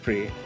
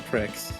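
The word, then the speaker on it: Prix: Let's pronounce game pre. Oh, right. Pre. I I keep saying pricks instead of pre.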